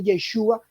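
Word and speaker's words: ישו: La Ain, que es muda, no se pronunciaba, entonces se le dice, si es que ese era su nombre, deberían realmente decirle Yeshu.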